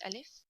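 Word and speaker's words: ألف: one here this is alif and sometimes alif curry hamza so hamza it's written like this it's a bit looks like i so hamza and alif got the same pronunciation so you pronounce alif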